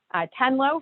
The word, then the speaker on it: Tenlo: And Tenlo, for everyone, is spelled T-E-N-L-O.